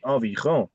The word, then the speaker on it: environ: ही नहीं आता जब वो बोलते हैं environ pronunciation आएगी environ okay Balkaran Singh ji you wanna try this one sir il y a environ 50%.